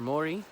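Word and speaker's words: Māori: Wai means water in Maori, or Mori if you pronounce it correctly. Mori, you have to flip your R's.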